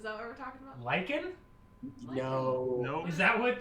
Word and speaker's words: lich: Well, do you just pronounce that lich? Yeah. That's lich. I pulled from the word lichen, so I said lichen.